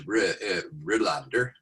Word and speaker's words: Rohlander: you are yeah and the last name is rolander but the way they pronounce it at least my attempt to pronounce the way they do is rilander in fact i did this